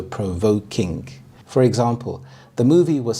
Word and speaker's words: provoking: The primary stress is on the second part of the compound word, voke, so provoking.